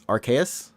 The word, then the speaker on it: Arceus: Pokemon Legends Arceus. Did I say his name? Arceus.